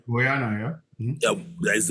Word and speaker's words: Guyana: I don't know if I pronounce the name of that country right. Guyana, yeah.